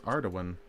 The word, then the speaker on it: Ardougne: Oh no, it's Ardougne.